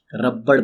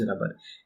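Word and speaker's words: rubber: रबर आप सबको पता ही है, कुछ लोग इसको गलती से रबड़ प्रोनाउंस करते हैं, रबड़, but actually it इज रबर।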